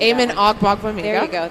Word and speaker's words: Amen Ogbongbemiga: But injury-wise, I want to talk Amen Ogbongbemiga. You can Amen Ogbongbemiga. There you go. Give us the Joe Tryon pronunciation, too.